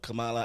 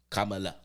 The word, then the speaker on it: Kamala: So no matter what, the electoral votes are going to go to Kamala. You still said it wrong. But You still said it wrong. Kamala.